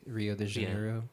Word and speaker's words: Rio de Janeiro: Rio de Janeiro, right?